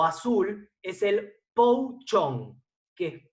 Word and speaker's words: pou chong: Y el segundo, semifermentado o azul, es el pou chong, que es P-O-U-C-H-O-N-G, pou chong.